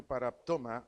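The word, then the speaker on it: παράπτωμα: palabra transgresión del griego par toma acento en la segunda a quiere decir pecado quiere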